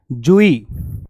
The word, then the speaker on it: joey: अगर आपको साउंड याद नहीं है, प्रोनाउंसिएशन बहुत जरूरी है, तो जूही पढ़ना है इसको। ठीक है, जॉय मत पढ़ लेना, कुछ लोग जॉय पढ़ते हैं, तो जूही बोलते हैं।